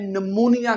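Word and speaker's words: pneumonia: एन से ये शुरू नहीं होता। निमोनिया के स्पेलिंग माय डियर स्टूडेंट्स होते हैं। पी एन ई यू एम ओ एन आई ए स्टार्टिंग पी से होती है।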